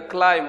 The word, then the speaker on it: climb: Climb here is B, but B is silent. We will not pronounce B in the climb word.